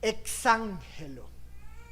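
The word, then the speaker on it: ἐξαγγέλλω: una palabra griega interesante esa palabra griega se pronuncia como exángelo se compone de dos palabras ex que quiere decir sacar y Angelo enviar qué está diciendo Pedro cuando está usando esta palabra exangelo exángelo anunciáis que está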